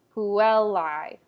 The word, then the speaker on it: puellae: before a double consonant like in puellae the l is longer who well lie you'll also see diphthongs usually emphasized who will lie emphasizes both the el sound and the diphthong deinde the other word